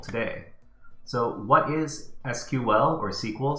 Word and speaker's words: SQL: So we're going to be learning about SQL today. So what is SQL or SQL? Some people get very upset if you pronounce SQL SQL.